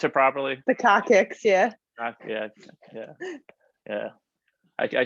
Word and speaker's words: coccyx: do you pronounce it properly? The coccyx, yeah.